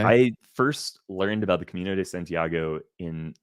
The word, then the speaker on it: Camino de Santiago: And I want to make sure I pronounce it right. Camino de Santiago.